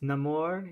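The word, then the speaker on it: Namor: all I gotta apologize it's pronounced no more okay yeah he's not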